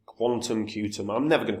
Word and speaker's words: Qtum: chart looks miserable now is meant to be pronounced Quantum um and it's a